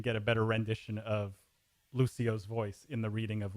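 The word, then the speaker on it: Lúcio: play overwatch will understand the extra syllable at the end of the name so like it's not that's why it's not called Lucio's for example that's that's that's basically why they added that that break in the syllable there and by the way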